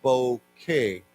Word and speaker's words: bouquet: bouquet now of course this is a originally a French word so we don't pronounce the T we just say bouquet like k-a-y okay what is a bouquet yes a bunch of